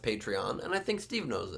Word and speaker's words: Patreon: Steve insists on calling it Patreon, pronouncing it that way. I think America knows and the world knows it's pronounced Patreon, and I think Steve knows it.